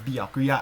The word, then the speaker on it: Byakuya: i think they're about the same level as biakuya which is i will be pronouncing his name as biakuya as pekopekoyama's english voice actress is actually half